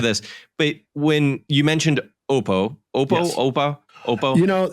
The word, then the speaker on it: Oppo: had some social media questions how do you pronounce it oh yeah okay there you go so Oppo yes that's actually that just sounds hilarious but